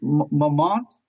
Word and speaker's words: Montmartre: I don't know about Elise, Annie, because she also likes Montmartre. Is that how do you say this in Paris? Montmartre, yeah, the wines from Montmartre.